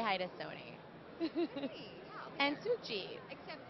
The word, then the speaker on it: Sukhjit: Spell that, Sukhjit. I was going to too. Sukhgit. No. Sukhjit. I thought I was saying J, but the G came out.